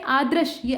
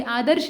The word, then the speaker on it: आदृश्य: बी वाला जघन्य के विलोम में आदृश ये आदर्श नहीं है। आदृश्य है। इसका उच्चारण सही करें। द्र लिखा हुआ है। द के ऊपर ऐसे कोई ऊपर से रेफ नहीं बल्कि नीचे से र की मात्रा लगी।